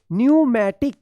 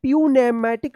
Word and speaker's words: pneumatic: अब आइए यहाँ पे देखते हैं PNEOMATIC न्यूमैटिक। क्या पढ़ेंगे इसको? न्यूमैटिक। प्यूनेमैटिक मत पढ़िएगा, यहाँ पे जो ना पी साइलेंट रहेगा। क्यों रहेगा? क्योंकि यहाँ पे एन से पहले आया है, ठीक है ना।